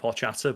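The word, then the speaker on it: horchata: I think I think it's pronounced more with like a silent H, right? So it's like orchard or it's difficult, right?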